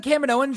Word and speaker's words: Kaminoans: The Kaminoans?